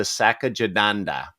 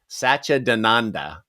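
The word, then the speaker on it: Satchidananda: Next week, we are going to be talking about Alice Coltrane's Journey to Sachadananda. And I say that different every time I say it. Sachadananda is how I believe it is pronounced.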